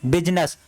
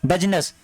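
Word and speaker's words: business: इसको अपने वीडियो इस बिजनेस बिजनेस बिजनेस बिजनेस बिजनेस मतलब आई का साउंड नहीं होता है बिजनस पड़ते हैं बिजनस ठीक है अब यहां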